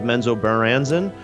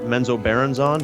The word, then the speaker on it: Menzoberranzan: Our next podcast episode subject is going to be on the Underdark city of Menzoberranzan, or Menzoberranzan, depending on how you say it.